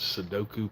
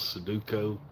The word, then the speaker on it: Sudoku: I get a fair amount of relaxation out of working those Sudoku puzzles, Suduko. I always say it wrong.